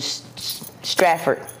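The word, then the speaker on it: Stratford: right at uh John F Kennedy Hospital in straford that's how you pronounce it straford New Jersey um I'm a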